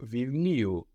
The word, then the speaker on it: βιβλίου: But no, το βιβλίο becomes του βιβλίου. So we don't have the accent on the U, but just before.